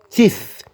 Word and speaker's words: teeth: Teeth. Quand tu mets, pour prononcer ça, tu mets la langue, le V. Tu mets la langue entre les dents.